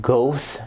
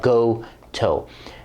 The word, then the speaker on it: Gotoh: because i'm an idiot and last video i pronounced it ghost that's not how you pronounce it it's pronounced go toe these are the awesome machine tuners who originally